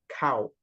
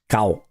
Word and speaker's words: Cao: My name's pronounced exactly like the animal's name cow. So Cow. yeah, Yeah. you get it? Yeah, Yes, yeah, yes, absolutely. yeah. Thank you. Cao.